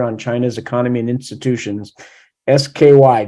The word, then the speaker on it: SCI: SKY, just pronounce it as Sky, okay?